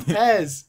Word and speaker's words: PES: It's Pez. Yeah. That's what you guys call it? It's called Pez.